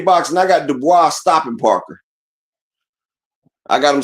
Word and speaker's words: Dubois: Du Bois?